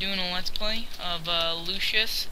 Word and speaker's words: Lucius: Dante Mana dramatic Lucius I used to pronounce that different I pronounced it like Lucius and I played the game for a couple seconds and one of the people actually pronounced my name and it's Lucius so yeah cuz yeah that's